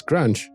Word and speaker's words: Grunch: And because, Cookie Monster is Grunch because Grunch rhymes with crunch.